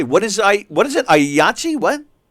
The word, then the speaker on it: IATSE: Yahtzee? What? The union IATSE, IATSE. Oh, I always saw the Association of initials. States. Yeah, I always saw the initials. I didn't know that's how they pronounce it, so I got thrown there.